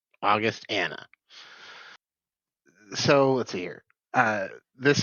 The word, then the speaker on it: Augustana: Oh wait, I swear it's like Augustana, but yes, okay. Augustana. Okay, It all flows together, but August and the name Augustana.